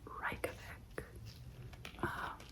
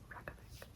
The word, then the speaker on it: Reykjavik: when I was actually there, they called it Reykjavik. But like everybody here says Reykjavik. So, although this is how you spell it, REYKJAVIK.